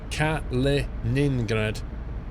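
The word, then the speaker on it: Kaliningrad: ah captain Flint's Paul you keep missing a syllable in the city name its cat Leningrad gotcha gotcha we can't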